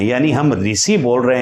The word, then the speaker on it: ऋ: वाला हो रहा है ऋ का जो शुद्ध उच्चारण था उसमें जीभ को स्पर्श नहीं करना था आप प्रयास करके इसका